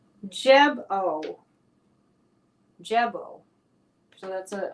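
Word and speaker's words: Gebo: here tonight nice to see you okay it's pronounced jebo jebo so that's a it's kind of hard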